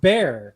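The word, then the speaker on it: Bexar: You mean bear? I don't think so. There's an X in the middle. Is Is it like It's pronounced bear.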